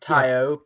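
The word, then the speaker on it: Taio: uh yes david it's definitely pronounced tayo because his next album is called t y dot oh oh cool i would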